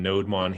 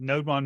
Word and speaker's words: nodemon: ahead and add that I had always pronounced that no demon and I had no idea why it was called that node Bond makes so much more sense it could be it